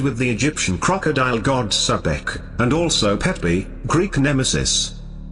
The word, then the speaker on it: Sebek: His name Sebek is the crocodile, originally pronounced Spek.